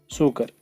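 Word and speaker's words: Tso Kar: एक तारसर है, एक सोमोरेरी है, TSO से शुरू होता है ना, T साइलेंट है, सोमोरेरी, और उसके बाद सोकर, सोकर TSO एक्चुअली TSOKR, सोकर।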